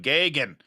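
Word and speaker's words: Geoghegan: And if you don't know, John Gougahan's name is actually John Gagan. But we pronounce it Gougahan around here because that's what we do.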